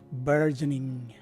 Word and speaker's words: burgeoning: or a short I, while the letters N and G are in their capitalized forms, indicating a medium stress at that point of the word. So this word is pronounced as burgeoning.